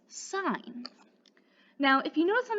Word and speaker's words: sin: working with it in math but it is pronounced sine now if you notice on the abbreviation up